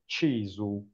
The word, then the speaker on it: CISU: you can see here each one is pronouncing it in a different way according to the language one is speaking so cus cisu and so on but we in Italy we say chesu that's the way we tell it and